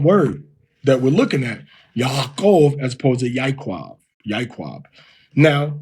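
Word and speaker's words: יעקב: Now, for Jacob, it would be Yaakov. Now, the biblical pronunciation of Hebrew, what that was spoken in biblical times, all right, did not have the distinction between the ba and va. So in the Tiberian system now, we would say Yaakov. But if it's a biblical pronunciation, it will be Yaakov. Yaakov.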